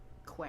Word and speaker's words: Quat: It's a cat, but spelled with a Q. Quat.